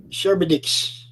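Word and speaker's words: Charybdis: of shower oh dear c-h-a-r-y-p-d-i-s if you can pronounce that sherbetix that's it that's it Well Done yep yeah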